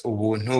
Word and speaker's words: Ubuntu: and by the way, in my language, Kinyanda, Ubuntu is pronounced as Ubuntu, which is pretty much just getting things for free.